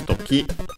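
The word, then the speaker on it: 時: Yes, toki, accented on the ki, on the last syllable, which means time, hour, moment, occasion, case, also chance, and so on.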